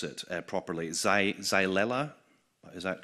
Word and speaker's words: Xylella: I'm not going to pronounce it properly. Xylella, is that correct?